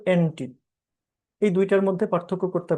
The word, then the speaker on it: ante: আর একটা হচ্ছে status quo এন্টি। এই এন্টি মানে কিন্তু ওই যে উচ্চারণ কিন্তু এন্টি না, মানে বিরোধী না, ANTE, এন্টে, এন্টে।